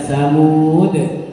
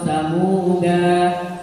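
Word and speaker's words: ثمودا: aja Min nabain kemudian samuda nah samuda ini sama dengan salasila tadi bacanya persis sama ketika stop bisa dibaca tsamud atau samuda kalau terus dananya dibaca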